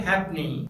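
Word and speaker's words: halfpenny: सिर्फ एक ऐसा वर्ड है जहां पर लेटर एफ साइलेंट होता है, और वो है हैपनी, जो एक फॉरेन कॉइन है।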